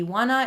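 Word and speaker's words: Ioana: as but my real name is actually iwana it's spelled i-o-a-n-a i prefer to be called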